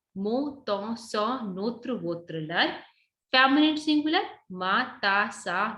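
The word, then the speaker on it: leurs: So more than one, you'll say lur, L-E-U-R-S. S will be there, but silent. So it's like when you talk about masculine singular, mo, ton, so, notre, votre, lur.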